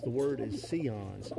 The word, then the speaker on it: Sion: birds and they'll say signs it's pronounced the word is seons see like you see me i see you it's seons c ons not cyans i'll have a lot